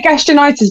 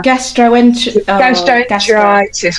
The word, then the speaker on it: gastroenteritis: I always say gastronitis, but it's oh my god, why can't I say it right now? Gastroenteritis, whatever.